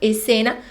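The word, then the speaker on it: escena: e cena e cena na pronúncia a gente coloca só o é aí na frente né e cena mas se escreve com s c e cena ainda os alimentos apesar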